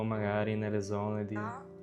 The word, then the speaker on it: magari: For example, magari, maybe. One of the people was pronouncing it as mari, dropping the second syllable.